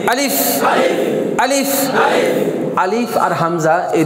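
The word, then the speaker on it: ألف: তো আলিফটাই কিন্তু আলিফের কোনো উচ্চারণ হয় না, কিন্তু পড়ার সময় কি হয় না, আলিফের কোনো উচ্চারণ নেই, সেটা মদের ক্ষেত্রে আসবে।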